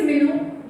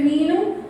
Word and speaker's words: Minu: My name is Minu. Either people say Minu or people say Minnu, but Minu is actually something.